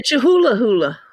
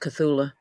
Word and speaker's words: Cthulhu: I think it's pronounced Cthulhu.